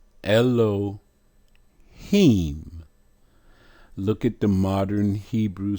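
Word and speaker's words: אלהים: their transliteration hello him what is the pronunciation ELO heem look at the Modern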